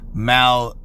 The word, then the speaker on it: malfeasance: So anyway, the name of this article says 9/11 and Jeffrey Epstein, media malfeasance on steroids. Let me get that word here because I pronounced it incorrectly.